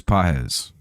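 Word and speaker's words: Pagés: Here's PZ. By the way, I'm not saying this person's name wrong. It's pron it's spelled P A G-S, but it's said like P A H SI Suzaki pitching game three.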